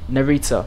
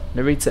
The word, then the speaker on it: Narita: there we are welcome to how do you pronounce the airport again um narita narita airport where it's currently showering with some stormy